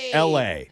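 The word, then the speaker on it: Elae: It's pronounced L. Same way you'd say the city of Los Angeles with a hard L.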